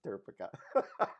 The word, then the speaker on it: turcica: that's how you pronounce it that's how you pronounce turcica yes I had to train for that because